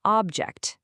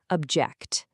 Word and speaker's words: object: A thing you can hold is an object, but to disagree with someone is to object.